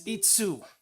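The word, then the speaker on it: 五: This is not go, it's itsu.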